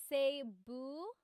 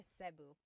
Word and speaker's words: Cebu: So, technically in the Tagalog alphabet, the letter E can be pronounced E or E like the letter I. So, I say Cu. Cebu. And I know some people say sabu, but usually it's either ceu or sebu.